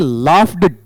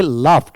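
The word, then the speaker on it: laughed: जी एस ईडी है इसे लाफ ड ड नहीं पढ़ेंगे इसमें सबसे बड़ी प्रॉब्लम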